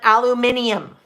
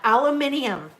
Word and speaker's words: aluminium: well in australia they don't well they don't pronounce it we might call it aluminum foil but probably not um they call it aluminium and i love that aluminium it just sounds like such a you know